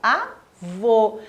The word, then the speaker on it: avô: lá para ficar clara a diferença entre um som aberto indicado pelo acento agudo e o som fechado indicado pela acento circunflexo leia as seguintes palavras eu tenho duas imagens aqui a imagem da avó e a imagem do avô esse exemplo exemplo bem